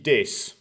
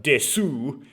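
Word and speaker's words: です: Because I just realized, like, des is des, right? You don't, it's not desu. Desu is what you say when you're trying to make fun of foreigners trying to speak Japanese. Anyway, it's like that ooh at the end just might mean that you just put a consonant sound at the end of the word without actually putting that final vowel.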